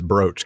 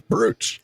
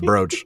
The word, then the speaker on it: brooch: And I'm just going to say good job on remembering that it's brooch cuz I cannot tell you how many times I pronounced that stupid word as brooch.